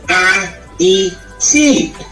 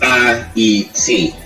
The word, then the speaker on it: Haiti: And he informs us that it is to be pronounced A-E-T. A as in alone. The proper pronunciation is A-E-T.